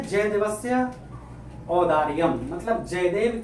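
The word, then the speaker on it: औदार्यम्: औदार्यम मतलब औदार्यम का मतलब होता है उदारता, ठीक है, उच्चारण सही करिएगा। औदार्यम जयदेव जय दिवस्य औदार्यम मतलब जयदेव की उदारता।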